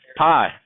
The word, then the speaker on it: pi: sometimes they're pie okay so pie now it's not spelled the same way but an exist so examples of this so an example of this would be pi which we spell p i okay now most i